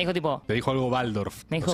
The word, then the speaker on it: Waldorf: Pero, factor importante sobre el que quiero detenerme, fui a un colegio Waldorf, se pronuncia Waldorf.